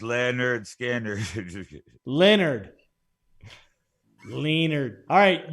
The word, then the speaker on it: Lynyrd Skynyrd: we can all sing along and remember it's pronounced Leonard skander Leonard lienarde alright you ready Danny what do